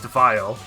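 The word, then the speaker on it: Weil: So, I believe his name is just supposed to be pronounced, like, with a German W.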